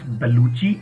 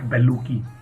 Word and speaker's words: Bellucci: an Italian mathematician and in Italy double c i is pronounced as Chi so you might have heard about the actress Monica Bellucci so her name is pronounced as baluchi and not baluki that is why we